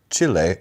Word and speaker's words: Chile: Uh, we have listeners now from Chile or Chile if you want to say it like they say it.